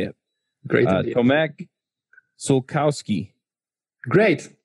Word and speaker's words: Sułkowski: me how you say it great Oh Mac sokowski great it's all usually you just mispronounced the the all is so cost you okay that's it but otherwise